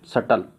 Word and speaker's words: subtle: जैसे SUBTLE, अब इसको क्या प्रोनाउंस करूँगा, what is the correct pronunciation of this word, सटल।